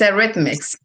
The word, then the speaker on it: Eretmis: How is the name of the school correctly pronounced? It's Eretmis.